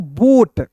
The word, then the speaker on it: boat: ठीक है, जैसे आप लोग यहाँ पढ़िएगा BOAT, तो क्या पढ़ेंगे दोस्तों, बोट। ठीक है, यहाँ पे दोस्तों ए साइलेंट होगा।